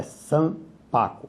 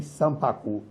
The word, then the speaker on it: Sanpaku: A pronúncia correta é Sampaco. A palavra é paroxítona. Algumas pessoas dizem Sampaku. Não é. Ela é Sampaco.